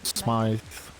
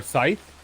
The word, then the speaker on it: Smythe: Yeah, Commodore Bill Smythe. So if you see you around, don't expect you to remember, but You said Commodore Scythe? Smythe, Smythe, Smythe, PLU commander. No, Scythe. The M is silent.